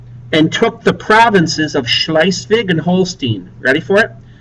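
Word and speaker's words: Schleswig: They defeated Denmark and took the pro the northern provinces of Schlicevig and Holstein. I'll spell it for you. They defeated Denmark. It's like beating up a third grader. And took the provinces of Schlicevig and Holstein.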